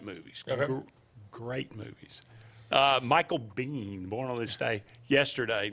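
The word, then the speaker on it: Biehn: Michael Bean you knew Michael Bean is say it regular maybe I'll know it don't put something no it's b-i-e-h-n I do not no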